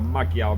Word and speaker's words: Magyar: It's a 9th, 10th century Magyar bow, or a Magyar bow as we would pronounce here in England for English speakers.